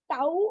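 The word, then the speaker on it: τ: We pronounce this symbol as tau.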